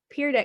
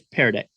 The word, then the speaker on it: Pear Deck: So there are many features on Peer Deck. Is that how you say it? Peer Deck or Peer Deck? It's Pear Deck.